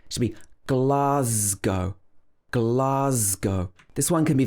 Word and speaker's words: Glasgow: get wrong it's not glasgow it should be glass go with o at the end glasgow also that s is pronounced z not s should be glasgow glasgow this one can